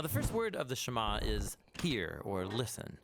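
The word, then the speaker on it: שמע: Now, the first word of the Shama is hear or listen, which in Hebrew is pronounced shama.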